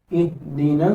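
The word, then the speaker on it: اهدنا: അലിഫിനും ഉച്ചാരണം ഉണ്ടാവില്ല എങ്ങനെ ഇഹ്ദിന സിറാത്തുൽ മുസ്തഫീം ഇഹ്ദിന നൂന് ഉച്ചരിച്ചിട്ട് നേരെ സ്വാദിലേക്ക് ചാടുകയാണ് അപ്പൊ അതിനിടയിൽ ഉച്ചാരണമില്ല ലാമിനും ശബ്ദവുമില്ല അതേസമയം ഇവിടെ അലിഫിന് ഉച്ചാരണം ഇല്ല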